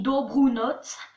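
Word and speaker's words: dobrou noc: Bonne nuit, dobrunots. Voilà, il y a un C à la fin, donc c'est tsk.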